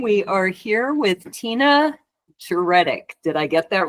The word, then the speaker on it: Djuretic: Light number 29 we are here with Tina jtic did I get that right you did well